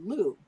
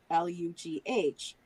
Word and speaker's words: Lugh: was actually named after the Celtic sun god Lugh, Lugh, who, gave the sun for growing the crops there.